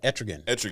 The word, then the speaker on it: Etrigan: Yeah, Etrigan.